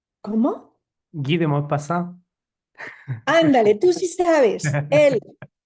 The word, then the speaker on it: Guy de Maupassant: Y esta es, que nunca lo puedo pronunciar, Guy de Maus. Guy de Maupassant. ¿Cómo? Guy de Maupassant.